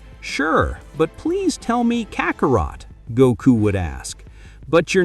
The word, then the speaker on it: Kakarot: Okay, if you like it more, I'll call you Karatoro. Vegeta said his name wrong. Kakarot.